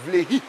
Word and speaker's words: Vlehi: C'est pas ça, donc c'est Vleyi. Voilà, c'est ça. Vleyi. Voilà, c'est ça, logiquement Vleyi.